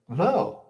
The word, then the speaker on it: though: Then you have o u g as in oh like though or although o